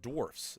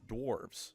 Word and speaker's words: dwarfs: pronounced dwarfs, not dwarves.